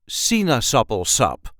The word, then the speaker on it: Sinaasappelsap: This is how we say Sinaasappelsap. Sinaasappelsap. There is a light emphasis on the first syllable, Sinaasappelsap. Si-naas-ap-pel-sap. Sinaasappelsap.